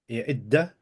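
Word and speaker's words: إدًّا: read Adda instead of Idda. لقد جئتم شيئا Idda. Adda or Idda.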